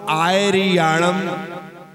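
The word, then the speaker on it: आइरियाणं: तो नमो आयरणम नमो आयरणम ठीक है नमो आयरणम नमो आयरण नमो आई इ भी बड़ा नहीं होगा छोटा इ नमो आ तो इसका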